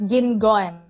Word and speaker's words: Guingon: introduce my guest guan go uh hey yeah my surname is really hard to pronounce it's gin gone gone okay silent you yeah interesting hi hi